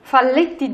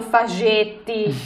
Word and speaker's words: Falletti: Falletti. Falletti, semplicemente, l'hanno chiamato Fagetti, Eh sì, perché Faglietti. di là in Uruguay si dice Facetti.